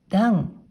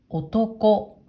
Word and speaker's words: 男: 音読みで段、段。訓読みでは男、男と読みます。